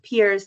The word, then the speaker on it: PEERS: And peers is an acronym. It looks like pears as the fruit but we pronounce it peers to play on the ear.